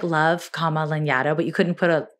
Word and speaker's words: Lanyadoo: So nobody can pronounce my name. It's not phonetic. I'm not offended, but also it's Lanyadoo for those who are curious.